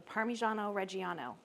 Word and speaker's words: Parmigiano Reggiano: So this is about 2/3 of a cup of the Parmigiano Reggiano.